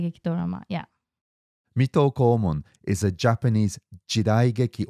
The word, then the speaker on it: Mito Komon: the first one is metalcore Mong did I pronounce that right I think Mito Komon Mito Komon and Mito